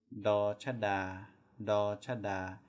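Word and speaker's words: ฎ ชฎา: So the first one is do chada, and it makes the exact same sound as do dek.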